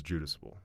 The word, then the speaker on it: Jadusable: And remember you were telling me it was Jadusable. Jadusable or something like that? Yeah, but every time you say it, it's like Jadusable or the correct pronunciation is Judusable.